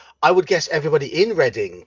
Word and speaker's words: Reading: would guess everybody in Reading cuz that's reading not reading um but yeah they